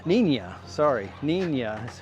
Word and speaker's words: Niña: This is the Nina. Nia, sorry. Na is how it's pronounced.